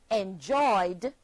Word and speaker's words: enjoyed: The verb enjoy, enjoy, becomes the past tense verb enjoyed, and is pronounced enjoyed, having two syllables still. Try that one. Put your hand beneath your chin and say enjoy. Enjoy. Two syllables. So when we add ed to that word, we have two syllables still.